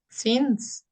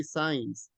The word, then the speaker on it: since: Do you know what is the pronunciation of this word? Since. Since. But there are some students that they say signs. Signs, no, right? It is? Since. Since, right?